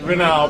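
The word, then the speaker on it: Miramar: Yeah, so you pronounce it as Rena, but it has the M at the beginning.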